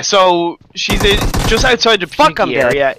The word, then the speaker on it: Pochinki: Anyway, it seems like we do have TP going towards Pochinki. Pochinki.